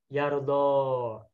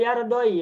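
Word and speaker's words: يرضى: Namun karena sebelum ya-nya adalah fathah, maka domahnya dibuang sehingga menjadi Yardo. Ya-nya tidak berharokat domah, domahnya hilangkan sehingga ya-nya berfungsi memanjangkan fathah sebelumnya. Yardo begitu. Ini tapi mohon maaf, bacanya tidak boleh yardoi ya.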